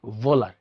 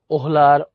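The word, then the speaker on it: Wöhler: এই কথাটাকেই 1828 সালে ভুল প্রমাণ করেন হচ্ছে ফ্রেডরিক ভোলার। ফ্রেডরিক ভোলার। উচ্চারণটা হচ্ছে এরকম। ফ্রেডরিক ভোলার, ওহোলার, ওয়েলার অনেকে অনেক রকম বলে।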